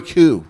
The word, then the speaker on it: coup: Well, it's pronounced coup. I know, but it looks like coupe.